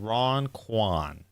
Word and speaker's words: Ron Quan: Okay, Ron Quan. Ron Quan. Is how the pronunciation is. Ron Quan.